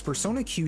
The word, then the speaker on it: Persona Q: the case is because Persona Q took a lot of its gameplay elements from those games and the last syllable Q sounds like the letter Q hamaru in Persona 3